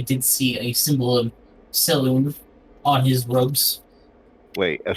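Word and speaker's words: Selûne: It's Saloon, just like Saloon.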